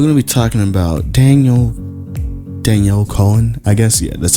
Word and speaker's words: Danielle Cohn: So we're going to be talking about Danielle Cohn, I guess. Yeah, that's how you pronounce her name.